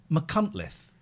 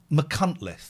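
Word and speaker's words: Munich: to the lead singer Mike West's house in munle Munith that's how it's pronounced right it's five hours away from me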